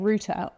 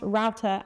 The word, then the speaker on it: router: By the way, I have been saying router this whole time. I know that Americans call it router, but they also call roots routes, so I assumed that it was router in the UK.